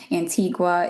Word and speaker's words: Antigua: So I always like to say Antigua and Barbuda because sometimes people pronounce it as Antigua, but that is not the island. Antigua is in Guatemala, so the island is Antigua.